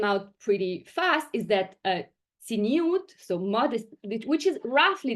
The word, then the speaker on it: tzniut: So tzniut, or tznius in the Yiddish pronunciation that these women use, came up as a